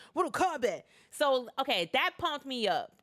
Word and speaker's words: Mortal Kombat: because you don't say Mortal Kombat, you say Mortal Kombat. Like, that's how you say it. Like you say with hair on your chest, Mortal Kombat.